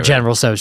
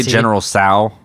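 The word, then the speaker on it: General Tso: I'd get like sweet and sour shrimp or General So's chicken. And that was like pretty much it. Yeah. Thank you for pronouncing it general so cuz it makes me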